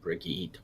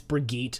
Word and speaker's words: Brigitte: It's because that's the like Swedish pronunciation of like Bridget, because Bridget isn't like